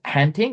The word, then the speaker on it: Hattingh: Today we are joined by Hattingh. Am I pronouncing that correctly? Well, yes, it's actually Afrikaans surname. Hattingh is the way we pronounce it, but there are many different English pronunciations, but that'll do.